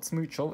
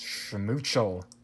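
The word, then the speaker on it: Schmoochle: Not Smoochel. It's Schmoochel.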